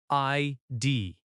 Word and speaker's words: ID: ID is pronounced as two letters. ID. Stress on both letters equally.